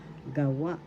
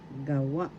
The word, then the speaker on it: gawa: English or reason gawa gawa first syllable ga second syllable wa the accent is in the second syllable wa gawa gawa gawa in english made